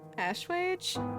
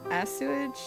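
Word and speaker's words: assuage: to pacifica's place Ash wage yeah I know what the word means I just didn't know how it was pronounced English and the English pronounced it wrong I always thought it was a asage because of her I'm sure that there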